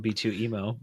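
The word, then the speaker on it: B2EMO: B2 Emmo would B2 B2 emo. How do you say his name? I can't even Did I just have to spoke? I think I'm pretty sure we've all settled on B2 emo. B2 emo.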